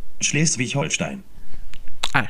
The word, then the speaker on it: Schleswig-Holstein: Vedete come lo pronuncio bene. Schleswig-Holstein.